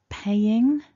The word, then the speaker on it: paying: Paying has that ing ending, and take care to stress the first syllable. So pay is stronger than ing, paying.